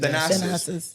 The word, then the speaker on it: Thanasis: Thanasis. Thanasis.